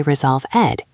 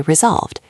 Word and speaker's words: resolved: You do not say resolve ed. You say resolved. It is one smooth sound at the end. Resolved. Imagine there is no e just a v and a d.